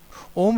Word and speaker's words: ओम: उसके अर्थ को जाने ओम शब्द तीन ध्वनियों से बना है अ उ और म इन तीन शब्द वाले